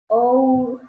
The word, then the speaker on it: our: La pronunciación de la palabra nuestra es igual que la palabra hora. A, U, A. La A, la U y la A. Y una R pequeñita al final.